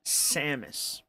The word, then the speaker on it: Samus: Her name is Samus. Samus. Like the word Saturn, it's Samus, right?